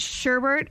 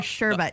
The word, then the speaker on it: sherbet: the ice cream uh is it sherbet or sherbet no but how would you say it oh it's sherbet it's spelled s RB God get out here